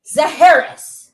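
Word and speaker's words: Zaharias: I'm talking about Babe Dietrichson Zaharis, and I said it right, okay?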